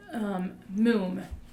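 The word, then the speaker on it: מום: So right there, that word blemish there, the word blemish is moom. M-O-O-M is how you pronounce it.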